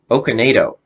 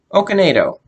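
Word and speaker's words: Okonedo: I don't know if I'm going to be pronouncing this right selfie okanado that looks right that well that sounds right from what it looks like o-k-o-n-e-d-o okay NATO okinado Sophie okanedo okay who plays Allison it's funny it says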